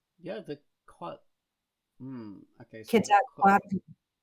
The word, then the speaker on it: Quetzalcoatl: So Quetzalcoatl. say it again. I think Quetzalcoatl. Yeah, there you go. It's very hard to pronounce.